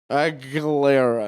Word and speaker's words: Aguilera: She like left it on, and she was like, "Say it right," and I was like dying, like man, like Aguilera, and she's like, "Okay, good."